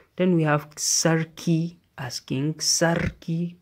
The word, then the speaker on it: sarki: Then we have sarki, asking, sarki, pronounce the R, then sarakuna, sarakuna, kings.